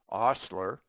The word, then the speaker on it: ostler: Omit the H in heir, heiress, herb, honest, honor, ostler, hour, humor, and also in their derivatives.